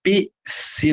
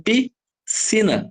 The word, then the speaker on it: piscina: um SC aqui ó Porém na piscina que nem eu falei para vocês você fala um piscina não você não fala um PC você fala em piscina não tem o som